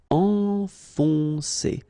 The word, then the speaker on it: enfoncer: Enfoncer, okay, so it can be quite tricky at the beginning because if you look carefully, first you've got this nasal, en, and after that you've got another on. Enfoncer, enfoncer.